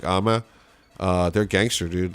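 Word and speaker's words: Âme: If you guys want to look them up, it's AME is how you spell it, but it's pronounced like Ama.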